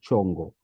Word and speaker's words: Chongo: chungo I was wondering am I saying your surname correctly or am I mispronouncing it I'm sorry I want to make sure I I didn't hear it at first I think you were muted but it's chongo chongo is chongo okay thank you yes